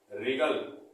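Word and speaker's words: wriggle: पढ़ेंगे इसको हम पढ़ेंगे रीगल क्या पढ़ेंगे रीगल और रीगल शब्द का मतलब होता है तड़पना तो आपने यहां पर समझा की व कहां कहां पर साइलेंट होता है मैंने बहुत ही मीनिंग्स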